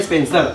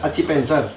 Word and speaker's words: Acipenser: Jadi ngomongin bukan Spencer, Acipenser. Iya. Kalau pelafalan di Indonesia ya Acipenser. Acipenser. Tapi bener Acipenser.